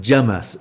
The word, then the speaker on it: James: It's the Curry House sketch, or the Game for an English, and the waiter is called James, and he is pronounced Jamas.